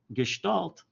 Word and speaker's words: Gestalt: Gestalt.